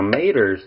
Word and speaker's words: tomatoes: lot of water now maters that's how you say it in certain parts of the country and some people may